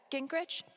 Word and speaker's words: Gingrich: Steph, Gingrich?